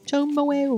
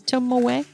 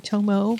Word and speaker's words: Tomoe: Welcome to my YouTube channel, where today I'm talking about Tomoe River paper. And I said, yes, Tomoe, which is how you say that word. I have been saying Tomoe for years, and it's Tomoe.